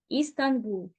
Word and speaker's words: Стамбул: Константинополь було перейменовано в Стамбул турецькою звучить як істанбул деякі мовознавці жартома кажуть